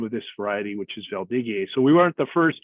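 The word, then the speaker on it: Valdiguié: hey wait a minute that's not gamma that's uh valdigie uh is is how you pronounce the variety uh correctly and through some of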